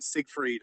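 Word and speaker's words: Siegfried: butcher no it's fine it's a German Sig freed but uh yeah sigy is fine good morning to you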